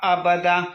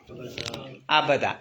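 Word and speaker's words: أبدا: ആ നമ്മൾ പിന്നെ പിന്നെ ബ്രേക്ക് പിടിക്കുമ്പോൾ ഈ ഒരു ഫത്തഹ് കൊടുക്കുക അബദ എന്നിട്ട് ഇത് മെല്ലെ നാട്ടി കൊടുക്കുക ഇത് തന്നെയാണ് സംഗതി ഇതിങ്ങനെ നാട്ടുക അങ്ങനെ ഉച്ചരിച്ചു നോക്കുകയാണെങ്കിൽ അബദ അബദാ കൂടുതൽ നീട്ടാൻ പാടില്ല ഈ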